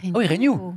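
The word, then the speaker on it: Reignoux: Tu dis Renews, toi? Tu prononces le X. Ah oui, Renew.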